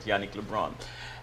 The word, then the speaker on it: Yannick LeBrun: Yannick, am I pronouncing Yannick LeBrun. LeBrun? Okay, good. I got it right. Yannick LeBrun.